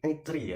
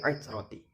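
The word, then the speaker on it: عترتي: Redaksi hadis di situ bukan aitri ya, tapi aitroti. Bukan aitri, tapi aitroti. Setelah saya perhatikan, ternyata beliau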